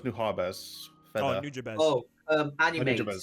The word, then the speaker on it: Nujabes: How did you pronounce it, consumer? Nujabes.